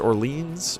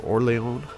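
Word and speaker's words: Orléans: So what we're going to do is first Orleans, or Orleans. I'm always pronouncing that the American way, and it makes people salty.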